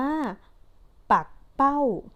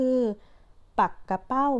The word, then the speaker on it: ปักเป้า: สอง แบบ เหมือน กัน นะ คะ อ่าน ว่า ปัก เป้า หมาย ถึง ว่า ชนิด หนึ่ง มี หาง ยาว และ ก็ อ่าน อีก แบบ นึง ก็ คือ ปัก กะ เป้า หมาย ถึง ปลา ปักเป้า นั่น เอง ค่ะ อ่ะ